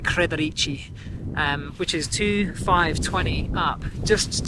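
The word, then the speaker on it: Kredarica: I can't actually say it. It's pronounced like Kredarici, which is 2,520 up.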